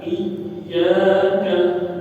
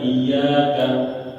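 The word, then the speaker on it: إياك: huruf ya Ia ya Jadi kalau ada tak yang tasdid itu pengucapannya harus benar-benar dilafalkan dan dijelaskan aatnya iyaka ya iyaka jangan iyaka iyaka na'budu wa iyaka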